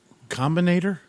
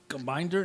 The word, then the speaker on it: Combinator: Spell it. COMBINATOR. Combinator? Combiner?